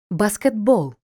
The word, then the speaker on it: баскетбол: приголосним вимовляється як Ґ баскетбол т одзвінчується і вимовляється як д вогкий слово виняток дзвінкий